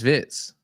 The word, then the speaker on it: Wirtz: You know I just I just heard apparently Verts ain't pronounced Vs. It's Vitz. Florian Vitz like that.